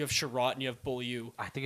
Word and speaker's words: Beaulieu: all and it's supposed he's not French bull yeah or something like that it's boy you know it isn't it it's Nathan bull you that's how you pronounce really just doesn't know